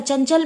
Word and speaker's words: चंचल: जैसे चंचल जैसे चंचल चंचल में ना साइलेंट होता है चंचल में ना जो है ना की ध्वनि जो होती है वो प्रतीत नहीं होती है ठीक है जो प्रतीत